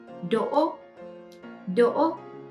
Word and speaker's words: Đỗ: But when you pronounce O, you open your mouth bigger than when you pronounce U, but smaller than when you pronounce A.